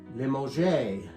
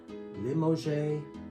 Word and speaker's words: Limoges: And how do you pronounce it? Limoges. Limoges.